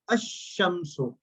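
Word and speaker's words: الشمس: Now, if alif lam comes before them, like a sister said, shamsun, ash-shamsu, lam is silent.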